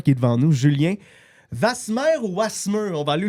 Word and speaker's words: Wasmer: est devant nous Julien vasmer ou was on va aller lui demander salut Julien salut est-ce qu'on dit Wasmer ou vmer was de quelle façon tu le prononces toi notre famille on prononce vasmer parce que ça vient